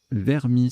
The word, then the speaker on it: vermis: Le coup suivant, Vermis, ça se prononce ainsi, j'ai vérifié, VRMIS, à 24, sous-top Versus à 22, Miro au pluriel et Ver VRS en K11 9G, ça fait 21.